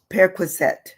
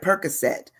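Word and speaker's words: perquisite: we're on the word periset it's it's almost like perette but it's periset periset um it's p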